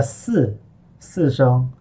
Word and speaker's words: 四: Resist the temptation to pronounce it as C. The I here is just a filler telling us to make sure we put our voice into the initial.